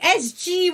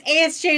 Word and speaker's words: ASJ: I heard, as G was coming out of my mouth, I knew I was saying it wrong. You know what's worse is ASJ is a patron and I still, like, dead ass, looked into the screen and went, ASG.